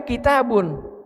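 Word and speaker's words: كتاب: Coba lihat di dalam Al-Qur'an dzalikal kitabu tulis tulisannya kaf ta terus ba enggak pakai setelah ta enggak ada alif ya seperti itu. Tapi bacanya kitabun.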